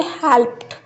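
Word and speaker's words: helped: हमारे पास वर्ड्स है हेल्प्ड। यह हेल्प्ड नहीं होगा। डी को नहीं प्रोनाउंस करेंगे। ठ साउंड इ और डी को कंबाइन करके ठ साउंड प्रोनाउंस की जाएगी। वर्ड की प्रोनाउंसिएशन होगी हेल्प्ड वर्क लाफ्ड वेस्ट यानी कि ये हम नहीं कह सकते कि हेल्प्ड worked laughed waste this is a wrong pronunciation.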